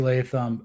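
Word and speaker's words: Latham: did I nail that name John is it leam yeah it's JC leam uh Blue Chip Prospect coming out you know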